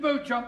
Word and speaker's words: Beauchamp: Beauchamp has been employed by the following firm. It's pronounced Beauchamp.